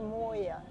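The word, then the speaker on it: مويه: and she's saying like we pronounce water a little bit different way. It's not like Maya it's more moya.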